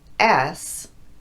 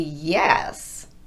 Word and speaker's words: yes: If I pronounced this word as S, you would say, "Hey, you're missing the Y at the beginning." That should be yes, not S.